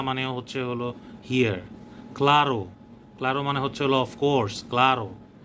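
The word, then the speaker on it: rua: যখন রুয়া উচ্চারণ করা, এটা রুয়া হয় না, এটা হুয়া হয়ে যায়, মানে আরটাকে একটু গার্গিলের মতো করে উচ্চারণ করতে হয়।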